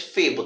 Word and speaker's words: Phebo: O nome se pronuncia, gente, Febo, tá bom?